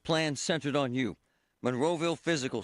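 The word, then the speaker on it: Fyzical: Monroeville Physical, spelled F-Y-Z-I-C-A-L, is spelled different, because they are different.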